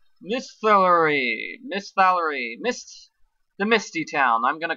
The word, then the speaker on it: Misthallery: The town with the long and hard to pronounce name. Misthallery.